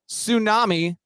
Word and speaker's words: tsunami: slide Swoon slump spiral and then tsunami the t is silent and so is your appearance